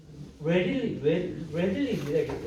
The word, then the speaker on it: readily: 읽는다는 거 아니에요. read라고 읽는 거 아닙니다. readily, 이거 있죠. Are you ready 할 때 ready에서 온 부사예요. read가 전혀 상관없습니다.